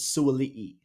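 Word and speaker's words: Suaalii: I think Suoli, Suoli or Suali. I think that the pronunciation is Suoli.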